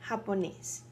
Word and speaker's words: japonés: Remember the J-A? Ha. See? Japonés.